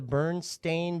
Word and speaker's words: Berenstain: there it is yeah they're actually called the burn stain bears phonetically yeah kindness counts though it has an a not an e yeah there it